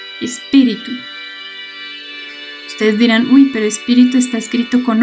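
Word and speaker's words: espírito: Ustedes dirán, uy, pero espíritu está escrito con O. En el portugués se escribe con O, pero se pronuncia U, espíritu.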